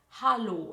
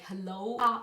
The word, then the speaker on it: Hallo: greeted by English hello but it's just pronounced like hallo it's not like hello lo it's like ha no from my past experiences